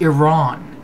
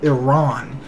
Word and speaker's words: Iran: can barely pronounce it no it's not iran it's iran just like it's not iraq it's iraq uh i know how to pronounce it and yes i know that iran is what used to